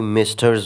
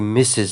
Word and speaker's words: Mrs: ګورئ، ځینې کورسونو کې استادان دا غلط تلفظوي، وایي میسټرز وایي یا څه شي څه شي. دا میسټرز نه دی بلکې میسز دی.